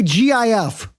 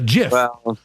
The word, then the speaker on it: GIF: giraffe G with a gif I don't know I still say GIF because I I feel like when I say GIF with a hard G it's like a micro